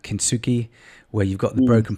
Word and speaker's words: kintsugi: And so we had this one student last year, and her presentation was using the Japanese art of, I think it's pronounced kintsugi, where you've got the broken pottery, you smash it, you refix it up with gold.